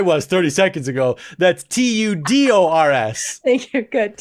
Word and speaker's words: Tudors: For those of you who don't know, that's spelled Tutors. She's not talking Try again. Tutors. Try again. Really? Try again. Tudors. They're not teaching people math. They are tutors.